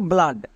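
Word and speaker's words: blood: যদি ডি থাকে তখন ডবল ও এর জন্য আ সাউন্ড পড়বো মনে থাকবে ডবল ও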